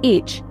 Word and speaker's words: ich: A soft version, heard in words like ich, I, and a hard version, as in Buch, book.